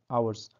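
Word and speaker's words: hours: তো অনেকেই হাওয়ার বলে, তো কারেক্ট প্রনাউন্সিয়েশন আওয়ার্স, আওয়ার্স। ওকে, তো এখানে এইচটা প্রনাউন্সিয়েশনের সময় যখন আমরা উচ্চারণ করছি তখন এইচটা উচ্চারণ হয় না, তো আওয়ার্স বলা হয়।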